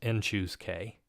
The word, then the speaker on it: n choose k: Often written in this form, and it's pronounced n choose k, but I also like just writing it as cn k.